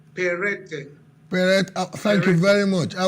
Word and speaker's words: Peretai: Joining us live is Peretai, PDP Publicity Secretary, Ondo State. Honorable Peretai, good to have you guesting on Plus Politics. Thank you so much. Good evening. But the name is pronounced Perete.